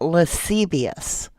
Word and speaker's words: lascivious: So it's pronounced lascivious.